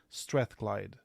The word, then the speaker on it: Strathclyde: sponsored PhD in chemistry at the University of Strathclyde. Is that how you pronounce it?